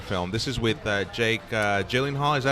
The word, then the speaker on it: Gyllenhaal: This is with Jake Gyllenhaal. Is that how you pronounce it?